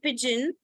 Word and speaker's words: pigeon: not a ball team okay why this e is coming it is only coming to make G soft okay so in the word pigeon when you write pigeon